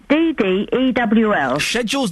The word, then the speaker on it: schedule: S-H-E-D-D. So it's schedule. S-H-E-D-D-E-W-L. Schedule's the British way. Yeah. Whereas American... Yeah. is S-K-E-J-A-L, schedule.